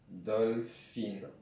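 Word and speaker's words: דולפין: le son O, donc ça fait Do. Un lamed sans rien qui fait le son Le. Un Fé avec un point en dessous, ce qui fait le son Fi. Un Yud qui ne se prononce pas vraiment dans ce cas-là. Et un Nun sophite qui se prononce Ne, ce qui fait Dolphin. Alors, il faut connaître une petite règle.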